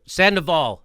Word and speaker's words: Sandoval: Sandoval.